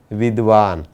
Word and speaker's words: विद्वान: लेकिन हम हमेशा इसका उच्चारण विद्वान करते हैं, यानी कि द की जगह पर हम क्या बोलते हैं? द बोलते हैं। लेकिन हमें ऐसा नहीं करना चाहिए। इसका सही उच्चारण क्या होगा? विद्वान।